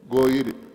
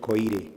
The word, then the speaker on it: Goire: Goire. Goire is Goire. my name. Goire, not Koire.